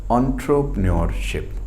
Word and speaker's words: entrepreneurship: तो हम लोग इसको, the right pronunciation of इट्स इज एंटरप्रेन्योरशिप, right.